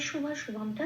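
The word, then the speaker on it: শুভাশুভম্: এটাকে পরের সাথে পড়ে দিতে হবে তাহলে পশ ঠিক উচ্চারণটা সংস্কৃত হবে পিয় তাহলে কি বলব প্রাপিয় আচ্ছা এবার শুভ শুভমটা যেমন আছে তেমন শুধু খেয়াল রাখতে হবে ময়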